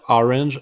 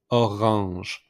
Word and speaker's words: orange: The second one yellow it orange exact same way of English but the pronunciation is a little bit different instead of orange is orange. So make the pronunciation R with the throat.